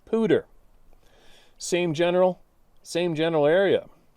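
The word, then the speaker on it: Poudre: videos back they mentioned cash la podre river pronounced pooter same general same general area first weird thing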